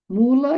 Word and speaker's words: Mula: Mula em sânscrit significa raiz. M O o o L a. Raiz se pronuncia mula.